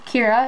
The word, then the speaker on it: Kyra: We have Sparkle Beach Kyra, or Kira, as it's correctly pronounced.